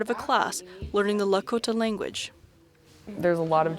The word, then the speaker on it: Lakota: are committed to preserving Lakota normal rule is that the emphasis is on the second syllable Jeannine Antoine teaches the